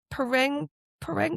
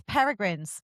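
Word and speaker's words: Peregrine: Ping Pang. No, it's Miss Peragrins. Paragrins. I keep saying that. I keep calling her Pering. No, Miss Peragrin's home for peculiar children.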